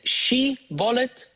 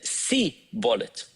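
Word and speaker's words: שיבולת: And it just so happened that these two tribes pronounced the name of that plant slightly differently. One of them said she-bolet, one of them said si-bolet.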